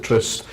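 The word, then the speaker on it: Tryst: we pronounce that word is it Trice or is it Tris I just formed a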